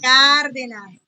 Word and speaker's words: Cárdenas: Cárdenas. Tiene tilde, entonces el acento va en la A.